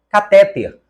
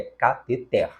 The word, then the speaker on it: cateter: recorde e a última catéter você aprendeu que esta palavra deve ser pronunciada como oxítona então o correto é cateter as três então estão